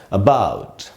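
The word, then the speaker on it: about: उसी पर स्ट्रेस है, यानी इसको हम यहाँ ए को पढ़ेंगे श्व साउंड की तरह, और इसको हम, इस वर्ड को हमको पढ़ना चाहिए ऐसे अबाउट, आधा अ पढ़ेंगे अबाउट, न कि अबाउट या अबाउट भी नहीं बोलेंगे क्योंकि पूरा अ नहीं बोलना है, जरा सा आधा अ बोलना है अबाउट।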